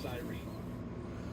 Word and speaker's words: siren: had a conversation about how do you pronounce it it's a siren in my world well i will get a lot of heat on social media because in dawsonville they call it the cyrene and then i coming